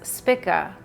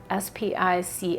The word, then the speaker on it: Spica: what is known as spika s-p-i-c-a i pronounce that if it's pronounced spika or i say spica potato potato anyway but i'm i'm just going to call it spica if you'd say it's